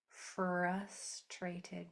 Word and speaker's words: frustrated: So I broke it up into syllables for you so that we can do it one syllable at a time. Fruss. F. Trey. A Ted T. So far so good. So it's these two Rs that most people miss when they say it. They usually leave this one out al together.